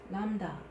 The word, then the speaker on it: lambda: Lambda. Lambda, lambda. Lambda is another consonant, and then the pronunciation is L sound. For example, like a light, light.